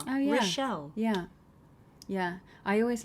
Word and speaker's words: Rischel: It's like people are always asking me how to pronounce my surname, and I'm like, it's like Michelle, but with an R. Oh yeah. Rischel.